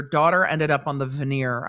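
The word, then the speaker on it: venire: ended up on the veneer I've never heard it pronounced vanir the veneer meaning that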